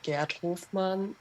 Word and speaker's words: Gerd Hofmann: If you pronounce it in the German way, it's Gerd Hofmann and Marco Derpa. So yes, I did butcher them. Yeah, that is the correct way to pronounce. Don't listen to me. But from reading, it's maybe not the obvious way to pronounce it.